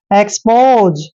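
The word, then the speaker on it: expose: हैं एक्स और देखिए पीओ का उच्चारण पो करेंगे और एस ई को ज पढ़ेंगे जब भी एस से पहले ओ आता है तो एस का उच्चारण ज करते हैं एक्सपोज एक्सपोज होता है दोस्तों खोल कर रखना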